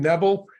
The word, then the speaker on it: Nebel: It's like rebel with an N. I can fit that into 10 seconds, I think. Yeah, you got Nebel, and then you can do your branding statement.